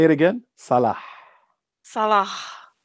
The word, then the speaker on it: Salah: Sonia bin Sonia Salah. Bensala. Is it I Salah think or it's Sonia. Salah? No, you have to pronounce the H like Like a when you're done drinking Coke.